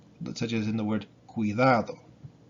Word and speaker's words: cuidado: You want to pronounce this, the U, put a C on it, such as in the word cuidado, right? Be careful, cuidado.